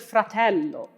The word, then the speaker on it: fratello: For example, in the word fratello, the L is doubled and the E vowel is shortened. Fratello.